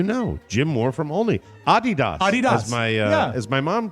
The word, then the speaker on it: Adidas: It comes from the name of the founder, Adolf Dassler, whose nickname was Adi.